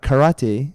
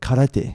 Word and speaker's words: karate: and then it's sorry so RS in Japanese when you see them in the ragic Western spelling are pronounced as L's so for example it's not karate but karate ah yes of course